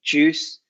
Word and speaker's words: juice: with the pronunciation - so we don't say we don't pronounce that you and the I would just say juice so Jews who like goose juice loose and past there is